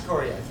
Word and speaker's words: Sikoryak: It's pronounced Sikoryak.